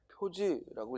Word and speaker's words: 표지: 이 표지라는 건 시험에 많이 나왔죠. 표식이 아니라 뭐라고? 표지라고 읽어야 돼.